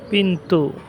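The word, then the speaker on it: pintu: ক্ষুধার্থ পিন্টু অর্থ দরজা সাধারণত মালাইরা পিন্টু বলে টি কে তারা ত উচ্চারণ করে পিন্টু বলে তো পিন্টু অর্থ দরজা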